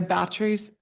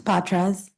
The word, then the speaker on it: Botas: And then Batric. Okay. Am I pronouncing your name correctly? It's Botas. Botas.